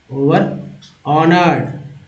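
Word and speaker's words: overhonored: Next है ओवर holding, ओवर ऑनर्ड, H silent है यहाँ पर, ओवर hunting, ओवर impress, ओवर indulge, है ना, इंडल्ज।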